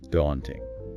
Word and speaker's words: daunting: That us sound. In American English, it's often a wider A sound, like in father. So, daunting. British English can be a bit rounder, more like caught, daunting,